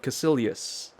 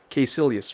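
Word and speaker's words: Kaecilius: come in the form of Casillas case Ilyas rather that's the how the movie pronounces that name and key Silius is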